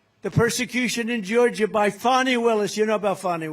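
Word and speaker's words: Fani: And he said that the persecution in Georgia by Fonnie Willis. You know about Fonnie Willis, right? Has anybody Fonnie? It's pronounced Fonnie. F A N I. That's Fanny. But she likes it.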